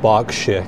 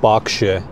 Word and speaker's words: Berkshire: By the way, the pronunciation is Berkshire. It's not Berkshire, okay? It's Berkshire. So don't be like the Americans. Pronounce it correctly, Berkshire. Most of the counties in the UK end in this word shire, right? It's always pronounced shire. Berkshire, Oxfordshire, Yorkshire. It is not Berkshire, Oxfordshire, or Yorkshire, or anything like that.